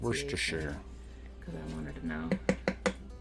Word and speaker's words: Worcestershire: I looked up the proper pronunciation. Worcestershire.